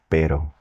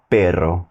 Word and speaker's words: pero: understand and use correctly, and that is pero. Pero, and not perro, because that means dog. And not a hard D like pedo, pedo, because that means fart.